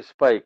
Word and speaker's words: SPIC: It is not a Spic, it is a Spic, S-P-I-C, Society for Promotion of Indian Classical Music and Art Amongst Youth.